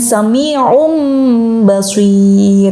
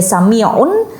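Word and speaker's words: سَمِيعٌ بَصِيرٌ: Kemudian sami'um basir ya, yang tanwin awalnya yang seharusnya dibaca sami'un tapi ketemu dengan karakter huruf ba, maka dia harus menyesuaikan menjadi mim juga. Nah, menjadi mim karena mim dan ba adalah jodohnya iqlab gitu.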